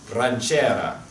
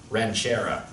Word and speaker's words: ranchera: little more you can start by rolling your R's it's ranchera not ranchera steve takes the advice